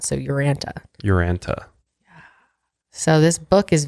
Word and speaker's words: Urantia: Yeah, I guess you take the I out. So Uranta.